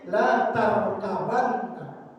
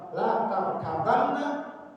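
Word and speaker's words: لَتَرْكَبَنَّ: Makna yang kedua, ada qiraah yang membacanya bukan la tarkabunna, tapi la tarkabanna. La tarkabanna, ba-nya difathahkan, la tarkabanna. Kalau tadi yang pertama la tarkabunna, kalau ini la tarkabanna.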